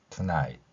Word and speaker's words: tonight: 자, 여기서는 GH가 소리가 나지 않습니다. T는 티읕으로 소리 나고요. 그러면 I라는 글자가 두 개의 모음 아와 이로 발음나듯이 이 글자들이 합쳐지면 tonight 이렇게 발음할 수 있다는 것입니다.